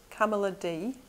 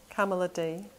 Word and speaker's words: Kamaladhi: Kamaladhi. Kamaladhi. I suppose it rhymes with Pamela D, something a bit more kind of familiar.